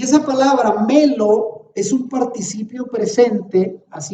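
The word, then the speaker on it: μέλλω: Y fíjese bien, en griego, la palabra, ahí entre paréntesis, se pronuncia melo.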